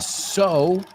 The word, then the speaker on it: sew: So, S-O, and so, coser, S-E-W, se pronuncia so.